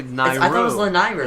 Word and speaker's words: Lanayru: I thought it was Lanayru. It's Lanayru. Nairu, so it's Lanayru. Nairu. It's Nairu, and then Lanayru.